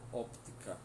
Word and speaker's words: óptica: Ótica em português, em espanhol óptica. E o som do P não é mudo, tá? Óptica. Lembrando que o O é fechado apesar do acento.